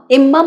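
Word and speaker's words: embalm: আর ওর verb হচ্ছে এমবাম মানে সুভাষিত করা সুগন্ধ দেওয়া এমবামের সঙ্গে সেকেন্ড এবং থার্ড ফর্মে যুক্ত হবে ইডি দেখুন এখানে বি এল এম এই এল টা কিন্তু উচ্চারণ হবে না হবে এমবা এম বাম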